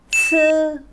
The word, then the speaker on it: ci: Rồi, sang đến cặp bên này thì âm bên trên mình sẽ đọc là ci. Có C đúng không ạ? Bật hơi ra nhá.